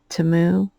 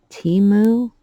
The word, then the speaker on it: Temu: able to say or not pronouncing to Moo as Teemu I'm really sorry um